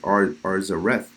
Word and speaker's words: Arsareth: Now, when you look up the word Arsareth in the Jewish encyclopedias, it's pronounced Arzareth, which is the same word.